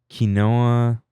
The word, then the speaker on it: quinoa: Oh, it's like chopped up quinoa. Quinoa. both. Kino is actually closer to the original Native American pronunciation.